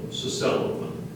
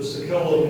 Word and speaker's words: sacellum: Are there any alternate pronunciations? There's one, Sacellum. Sacellum. Can you please use this word in a sentence? The Sakellum in the ancient church was built for exclusive